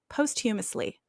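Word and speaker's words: posthumously: hum hum oh no I don't know what that word is humus humously post humus post um humously post humously I just Googled it I guess I was trying to add another syllable in there y'all I'm so sorry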